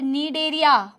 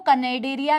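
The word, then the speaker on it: Cnidaria: और नीडेरिया, बार बार बोल रही हूं, कनेडेरिया नहीं है, ठीक है, नीडेरिया, सॉरी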